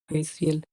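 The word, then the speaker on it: facial: ओ यू इसीलिए इसमें ए का उच्चारण ए होगा। फेशियल एफ ए सी आई एल फेशियल में एफ के बाद ए आया है।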